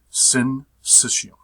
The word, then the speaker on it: syncytium: this term and this is the way you pronounce it sin system say it to yourself say it to the